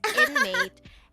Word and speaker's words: NM8: Paradox life it's called inmate spell one nm8 but pronounced as inmate and the song is